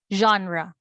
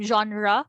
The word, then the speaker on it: genre: sound is ja ja softer version of your z sound ja ja as in genre version measure so you have their